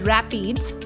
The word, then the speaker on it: RAPDs: RAPD or Random Amplified Polymorphic DNA is usually found in the plural as RAPDS, which is often pronounced as rapids, partly because it is